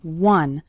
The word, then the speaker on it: one: minutes a day finishing one short activity the word one starts with the w sound okay some students pronounce it like on but that's not correct it's one one short activity and the